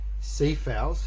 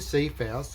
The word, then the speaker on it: Cepheus: So up near that Polaris star, which would be the top two constellations, we have one called Cepheus, it's Cephous, and we have one called Cassiopeia.